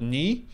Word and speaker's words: ny: And normally you would call this new, but because we're in Norway land, we're going to call it ny, which is how you say new in Norwegian.